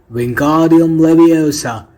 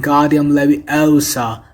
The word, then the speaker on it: Wingardium Leviosa: having much more luck wingardium leviosa he shouted waving his long arms like a windmill you're saying it wrong harry heard hermione snapped it's a being guardium levy elsa no god nice and long you do it then